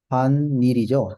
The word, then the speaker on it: 집안일: 이렇게 단어가 됐어요 집안일네 그런데 발음은 지반밀이죠 집안일 이번 집안일 이렇게 너희가 차례만 집안일 보통